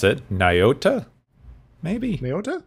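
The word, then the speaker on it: Nyota: has a first name apparently hooray i can't pronounce it niota maybe myota nayota hera huh yeah lieutenant commander lieutenant commander you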